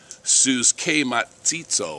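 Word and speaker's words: συσχηματίζω: It comes from a Greek word, and it's spelled S-U-S-C-H-E-M-A-T-I-Z-O. Suskematizo, I think is how they pronounce it.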